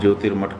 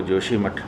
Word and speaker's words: ज्योतिर्मठ: किया जा रहा है ज्योतिर मठ को जोशी मठ के रूप में उच्चरित किया जा रहा है तो उन्होंने उत्तर प्रदेश